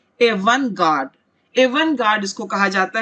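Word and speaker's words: avant-garde: इसे कहा जाता है, प्रोनाउंसिएशन पर ध्यान दे, एवन गार्ड।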